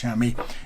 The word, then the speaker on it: chamois: and so the word shammy chamois if you like but tends to be pronounced shammy is used for chamois